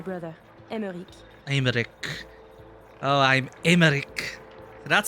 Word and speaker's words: Emmerich: Oh, I'm Emmerich. That's how you pronounce it.